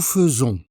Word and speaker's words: faisons: Nous faisons. Écoute bien la prononciation. Faisons.